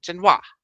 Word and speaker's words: Genoa: Italy, Jen, and W and Wa is how to pronounce it. Genoa.